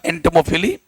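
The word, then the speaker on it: entomophily: वैसे तो पते इसका प्रोनाउंसिएशन होगा एंटोमोफिली, बट यहां पर देखो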